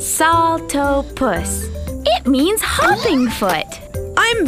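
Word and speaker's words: Saltopus: was my bad hyah I am Salta puss that's pronounced salto puss it means humming foot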